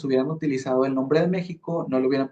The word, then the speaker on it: México: Y es por eso que ahora la X se pronuncia como si fuera una G o una J. Por ejemplo, México ahora suena como una G o una J, ¿verdad?